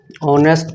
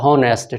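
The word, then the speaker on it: honest: करते हैं, देखिए ऑनेस्ट ऑनेस्ट पहले पुराने ग्रामर का अनुसार इसका हिंदी उच्चारण अ माना जाता है, ऑनेस्ट माना जाता है, तो उसके अनुसार यहाँ पे एन का प्रयोग होगा, ठीक है।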